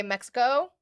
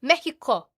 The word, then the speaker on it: Mexico: Yes, the X gets pronounced a lot of the time like an H. You say Texas is Tejas. But not Mexico.